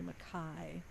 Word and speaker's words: McKay: i really like nellie mackay nellie mccain now that's a name i don't know mckay m-c-k-a-y but it's pronounced nellie makai oh that's like dave mackay okay and she lives